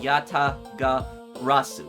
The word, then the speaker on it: Yatagarasu: Yatagarasu, that's how you pronounce it, made a move.